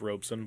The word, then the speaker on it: Robson: last name our OBS o n Robb son pronounced Robson but it's built Robb son Robb and I'm